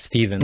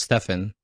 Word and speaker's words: Stefan: But my name's Stefan. His name is Stephen. There's no Wait. way I've been calling you Steven, but your name is No, it's Stefan.